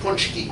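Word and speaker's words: pączki: p a c z k i but that's pronounced poncho okay literally they're jelly donuts got it the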